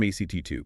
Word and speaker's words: ACT2: Comes straight from ACT2. Pronounced act response can be slow.